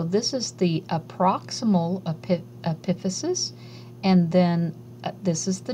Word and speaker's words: epiphysis: the ends of the bones eposis uh some pronounce it as Epis and I learned it as epiphysis so I'm going to say epiphysis and eposi